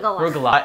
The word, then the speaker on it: Rugelach: We're baking Rugelach. Did I pronounce it right? Rugelach.